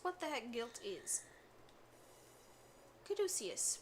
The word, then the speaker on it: caduceus: Caduceus, although, granted, at the time I thought it was catechus because I had no idea how to pronounce that.